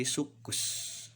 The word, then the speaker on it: sucus: Kemudian rangkaian huruf C dengan C akan dibaca menjadi huruf K, K-nya menjadi 2 jika huruf tersebut bertemu dengan A, O, dan U. Contoh, tulisannya adalah sucus, maka dibacanya menjadi sukus.